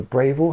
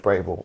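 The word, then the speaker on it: Braeval: We had a independent bottle of a Bravville. Have you I don't know if you pronounced that right. Braval.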